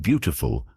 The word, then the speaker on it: beautiful: In the word beautiful, the stress is on the first syllable.